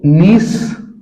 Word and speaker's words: gneiss: Cyst, नीस, granite. Cyst की देखिए, इनकी स्पेलिंग भी याद कर लीजिएगा, CH IST, CH, सिस्ट हो गया, और नीस का हो गया GNEISS, नीस।